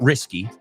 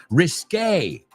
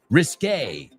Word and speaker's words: risqué: No, not risky. Risky es arriesgado. Risqué. Que se escribe Q-U-E al final. Risqué.